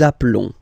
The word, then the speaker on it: appelons: Nous appelons, and then little link would be perfect, so let's pronounce the whole thing again. Nous appelons. Nous appelons. Okay, final S doesn't exist.